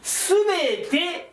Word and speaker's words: 都: らなかった、これすべてと読むんです、訓読みするとね。